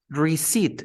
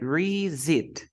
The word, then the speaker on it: receipt: the next one received receipt you never say receipt no this incorrect we say re-zit raise it it's like